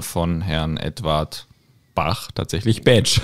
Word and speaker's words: Bach: als das valisische ja darum würde im valisischen Bach dann eben tatsächlich Bach ausgesprochen Bach ja ja wobei und